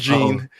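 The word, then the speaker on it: Gine: I butchered that shit out of her name last episode, but it is Gene.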